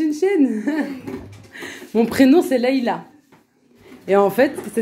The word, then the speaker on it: Laïla: Mon prénom, c'est Laïla. Et en fait, ça s'écrit L-A-I-L-A.